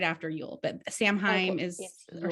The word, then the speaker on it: Samhain: right after you'll but samheim is or samhain don't quote me on pronunciations i thought it was like so wayne yeah it is i'm going to be